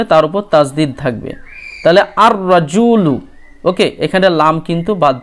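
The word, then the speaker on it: الرَّجُلُ: কি নিয়ম ছিল যে আলিফ লাম যুক্ত হলে লাম এর উচ্চারণ হয় না ওকে তাহলে এখানে কিন্তু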